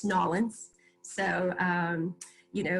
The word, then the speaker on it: New Orleans: Again, Hurricane Katrina, New Orleans is still not the same, and I know it's Nolans.